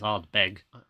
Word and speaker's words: Ardbeg: Yeah, there's no R at the end. It's Ardbeg.